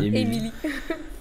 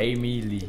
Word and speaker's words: Emily: Emily. Ça se prononce comme Emily, là, vraiment.